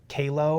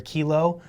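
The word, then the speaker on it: QALO: I think it's Kao or Kilo. Uh it's per it's it's spelled Q A L O.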